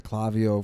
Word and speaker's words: Klaviyo: news to our client today that she was pronouncing Klaviyo wrong for a long time. Yeah, she kept saying Klaviyo, and I'm like, dude, we called it Klaviyo for, like, ever, and then they gave us T-shirts.